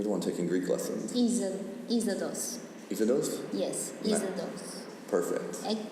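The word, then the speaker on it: Είσοδος: How do you pronounce entrance in Greek? You're the one taking Greek lessons. Isodos.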